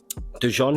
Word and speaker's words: Dujon: How do you process that stuff going into a fight like this Friday against Jordan Dujon? Is that how you say his name? Yeah, Dujon. Yeah. Dujon. Yeah. Like the mustard.